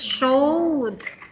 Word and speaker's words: showed: very good this one it's just one syllable it's showed showed just like that showed sure okay just put the D sound showed it this one